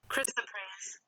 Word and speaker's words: Chrysoprase: Chrysoprase. Chrysoprase is what this is called. Now, let me pull up my camera so I can see myself. Chrysoprase.